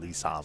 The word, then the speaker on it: Lee Sam: I call him Lee Sam because that's how you're supposed to pronounce his name.